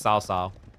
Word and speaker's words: Cao Cao: Be honest, how many people mispronounce Cao Cao? In fairness, as a kid, when I first saw that name, I thought it was Cao Cao, then Ko Ko.